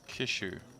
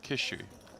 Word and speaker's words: Kishu: outs big alex saying his name is pronounced kishu all right kishu if that's right thank you big alex beg out i'll go kiss you and if i'm saying kiss you're not quite right then correct me again like i say